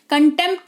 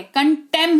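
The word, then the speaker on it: contempt: Pethick में होता है लेकिन पी के अगर तुरंत बाद टी आपको दिख रहा है तो मोस्टली पी जो है वो साइलेंट हो जाता है उदाहरण के तौर पर कंटेंप्ट ऑफ कोर्ट आपने सुना होगा ना कंटेम ऑफ कोर्ट कंटेम नहीं होता है बॉस कंटेंप्ट नहीं होता है कंटेम होता है क्या होता है कंटेम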